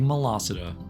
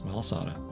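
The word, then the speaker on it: Malasada: Big Molassa. It's not how you say it. It's Melasada, but it's fun to say Mela.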